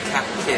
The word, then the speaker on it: Kake: say your last name just for it's actually pronounced cap K cap K so that's the the the bowels